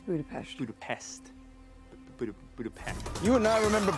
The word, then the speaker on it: Budapest: Mason, Clint gibi İngilizce halini kullanmayı tercih ederken It's Budapest.